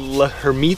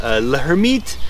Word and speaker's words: Lhermitte: talk about is called Locker meet sign that's like the worst French pronunciation you could ever have let her meet was a neurologist like